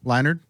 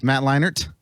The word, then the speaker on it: Leinart: There's a T in there. Isn't there a you're DT? saying a D. You're saying a D. Matt Leinart?